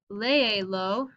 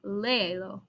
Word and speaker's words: léelo: So here, if I'm saying léelo, read it, I need to keep the stress in this syllable, so I'll accent my E, léelo.